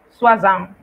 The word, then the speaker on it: soixante: Si usted ve O, I, usted va a pronunciar wa, como en soixante, que significa 60.